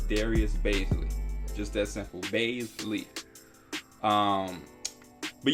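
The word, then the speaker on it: Darius Bazley: Somebody tried to tell me I was saying his name wrong. I've been watching Darius Baisley for years now, and I've never heard anybody pronounce his name any different than what I have. It's Darius Baisley.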